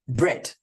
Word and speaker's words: bread: If that was the case, we would spell it like this: B-R-E-D, bread.